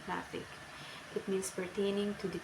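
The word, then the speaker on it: gnathic: GN, pronunciation N, example gnatic.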